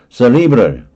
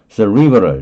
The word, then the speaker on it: cerebral: 그 다음에 cerebral 그럴 수도 있고 cerebral 이렇게 할 수도 있는데 이게 대뇌의, 뇌의, 그래서 지적인 뭐 이런 뜻이에요.